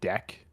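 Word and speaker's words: deque: Like even if they just need a stack, like they'll just use a DQ or it's called a deck. DECK is like the pronunciation.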